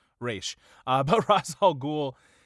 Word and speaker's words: Ra's: what he's going at ra's in the comics or race depending on what pronunciation you want to go with if you want to go with the real one raesh uh but ross all